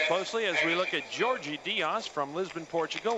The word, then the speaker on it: Jorge: as we look at Georgie Diaz from Lisbon, Portugal. We called him Jorge yesterday. That's the Spanish pronunciation, but today we're going to give him his rightful Portuguese pronunciation. It's Georgie.